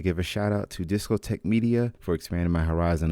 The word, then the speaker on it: Discotek: Oh, last time it's pronounced Discotech.